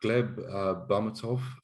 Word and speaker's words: Gleb Bahmutov: Next up, we have Gleb Bahmutov. I hope I'm pronouncing his surname right, Gleb.